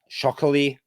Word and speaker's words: Chokheli: Levan Chokheli, rhymes with broccoli from Georgia.